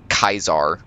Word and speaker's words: Caesar: That's a Kaiser. That's a hard C same pronunciation as when I call you a cunt.